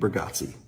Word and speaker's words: Bargatze: B Nick Burggatsi.